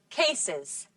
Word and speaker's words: cases: You have to pronounce the final E in these words when you add an S. And you get an extra syllable.